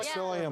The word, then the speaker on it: psyllium: And psyllium is the ultimate regulator.